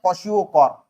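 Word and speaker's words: Kwashiorkor: तो पहला जो डिसीज है उसको बोला जाता है कॉसियोकार। इसका प्रोनाउंसिएशन याद रखना।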